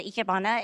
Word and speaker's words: ikebana: The ikebana is Japanese flower arrangements. That's how you say it.